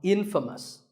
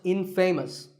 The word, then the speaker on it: infamous: you might just become infamous this word is the opposite of famous and it means famous for something bad but it's not pronounced in famous it's pronounced infamous alright I hope you